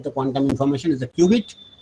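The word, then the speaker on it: qubit: quantum information is a cubit pronounced as Cubit or a Quantum bit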